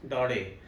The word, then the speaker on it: Daudet: और इसको लिखा है अल्फोंस डोरे, DAUDET। इसको प्रोनाउंस किया जाता है अल्फोंस डोरे। टी को साइलेंट रखना है, इसमें फ्रेंच नेम है।